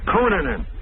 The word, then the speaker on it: Cunanan: I said Cunanan.